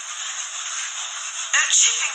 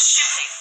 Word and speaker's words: Chipping: could you spell it chipping sir I thought you said shipping chipping as in chips but that's